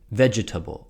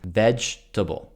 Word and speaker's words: vegetable: almost impossible for them they make the V sound like a w so they say wedge or they even pronounce the second e in the word and they say vegetable or vegetable so please